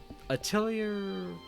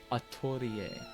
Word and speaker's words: Atelier: actually derived from, but in Japanese, you hear them say it, Atelier. And it's just like the way I think you would pronounce it looking at it in English, because you're gonna see